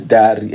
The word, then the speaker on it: Dary: My name is Dary, and you said necessary. Like, it's so nice. Just rhyming with Riri.